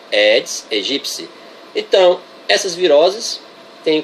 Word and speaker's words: Aedes aegypti: biologia têm culpa de aedes aegipty totalmente errada pronúncia edis e gypsy o peti é pronunciado psi é greco-latina pronúncia correta essa daí edis e gypsy então essas viroses têm